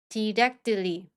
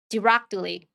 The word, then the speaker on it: directly: 우선 앞쪽 C K 발음은 힘을 빼시고요. 뒤에 붙은 T를 댄 소리로 발음하면서 뒤를 부드럽게 끌어 주시면서 발음하시면 됩니다. 연습해 보겠습니다. Exactly. Exactly. perfectly perfectly strictly strctly directly directly correctly correctly 예문 한번 읽어 볼게요.